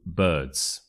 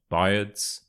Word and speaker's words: birds: word is d birds so I know it's got an i there but don't let that confuse you just imagine that this was spelled with a u so Birds it's not bads biards it's birds birds the final word we